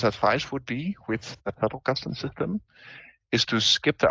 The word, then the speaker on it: Zettelkasten: Zettelkasten. Zettelkasten. Yeah, it's a German word.